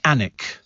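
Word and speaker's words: Alnwick: New that's right nck as KL said is pronounced anik it's got a castle and it's got a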